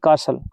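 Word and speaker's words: castle: Old book, पुरानी किताब, magical adventure, happy boy, amazing stories, fantastic adventures, colourful creatures, old कासल, कासल होता है किला, इसमें टी साइलेंट रहता है।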